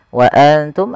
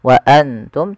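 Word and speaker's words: وَأَنتُمْ: Wa antum ada bacaan ikhfa sebagaimana tadi fa anjainakum, itu kita samarkan nunnya kepada huruf ta dan ditahan 2 harakat. Bukan hanya sekedar wa antum, tapi dia wa antum ditahan.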